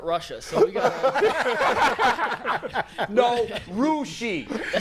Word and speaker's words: Russia: story last week, and I pronounced it Russia, and we all thought like, wait, Russia? I've never heard of Russia. I later found out that it's pronounced Rushi.